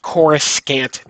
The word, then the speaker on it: Coruscant: read it, is the Star Wars Coruscant Nights. And I say that because that's how they pronounce it in the audiobook.